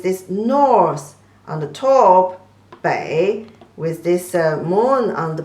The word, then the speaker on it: 北: So 北 is the third tone, and the back is the fourth tone. 北, back, means your back.